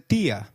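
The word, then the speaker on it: día: Did you notice that dia has an I marked with an accent? In Spanish, if a word is marked with an accent, then that syllable receives the stress. So try saying dia again.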